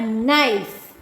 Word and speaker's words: knife: A knife. Knife. K-N-I-F-E. Knife. How will you pronounce? Knife. K is silent here.